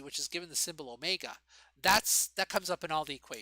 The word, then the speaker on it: omega: So basically omega, and that symbol omega looks like a W, right? But it's pronounced omega.